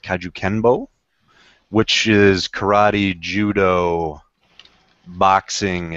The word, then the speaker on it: kajukenbo: So, Sanchez is a Jackson Winkl John guy and he's a black belt in I believe it's pronounced kajukenbo, which is karate, judo, boxing, and kempo karate.